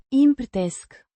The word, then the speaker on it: împărtășesc: This is the first person singular present tense of the verb a împărtăși, to share, pronounced împărtesc, with the stress on the third syllable and a soft she, sound.